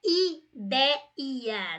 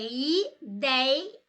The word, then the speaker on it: ideia: Não é ideia, não. É ideia. Então, esta palavra tem o ditongo aberto ei e ela é paroxítona. A sílaba tônica é a penúltima.